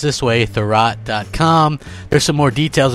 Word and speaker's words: Thurrott: and according to and I've been told this pronounced this way the rot com there's some more details about Microsoft one